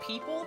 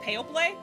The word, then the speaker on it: people: Um, when she was learning English, she saw the word people and she pronounced it pale play. And like the rest of the class was like laughing about it. I was like, "No, dude." But like, I get it. Why is it Why is it spelled like that? What do you mean pale play makes sense? People, how do you know that it's pronounced like that? You just know.